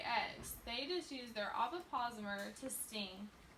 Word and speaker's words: ovipositor: Does anyone want to try to pronounce that word? Ovipositor. How'd you say it? Ovipositor.